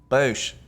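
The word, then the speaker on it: boosh: it or it'll activate well spell it for one of them is b-o-o-s-h bosh doesn't feel good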